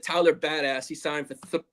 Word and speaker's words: Biadasz: It's Biadasz, but I'm just going to call him the Badass.